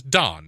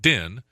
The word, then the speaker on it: Don: implyin of the Oregon my name is dawn not din there's no e at the end of it so if there were an e your name would be pronounced didn't know it'd be done right if there was an e instead of an O kind of like if it was Oregon GE n it would be or again hey I didn't know